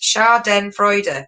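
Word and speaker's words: Schadenfreude: right okay we've got one race put it's pronounced char den freude there we go melanie why didn't you do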